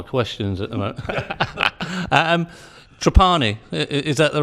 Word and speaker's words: Trapani: taking on more questions at the moment and trapani is that the right pronounce the H don't tell us that tell us their pronunciation the correct pronunciation is trapani we're actually from Sicily originally and most people